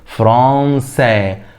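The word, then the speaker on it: France: ثال لجمال الصوت فقط اقول ايه فرانسا فرانسا تاني فرانسا والساكن الاخير ايه لا ينطق هنيجي للي بعديها جاغ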